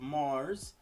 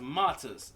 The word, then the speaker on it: Martyrs: Alright, we here with some Big Will, the Brutality of Mars. I hope I am pronouncing that right.